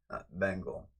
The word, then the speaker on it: Bengal: See, not pronounced bingle cat. pronounce bingle cat Bengal Bengali Bengali ben not b i n but you can say bingle but bengal it's like you know what